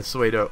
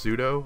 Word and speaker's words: pseudo: entire meta game so Agron should be a suo a pseudo apparently I think I'm saying it